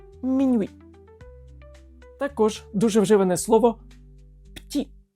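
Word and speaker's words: petit: також дуже вживане слово ПТІ ПТІ за правилами взагалі воно має читатися як ПТІ але ось цю Ми також ігноруємо ПТІ маленькі воно і звучить навіть як маленький Ну і звичайно куди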